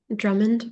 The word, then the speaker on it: Drummond: How would you say it? Drummond, but you can say it however.